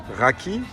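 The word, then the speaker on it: rakı: Et nous avons un i euh qui ne prend pas de point et ça se prononce e.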